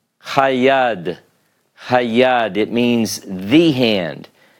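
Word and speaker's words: הַיָּד: the hay with the patah and then a dagesh in the first consonant of the noun, it's hayad.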